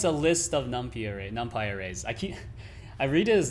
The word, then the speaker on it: NumPy: Oh, that's why it's a list of numpy arrays. I read it as numpy, but I'm pretty sure it's pronounced numpy.